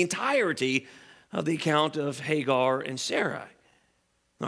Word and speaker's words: Hagar: In our passage in Galatians, she's called Agar. In the Old Testament, though, the pronunciation is Hagar.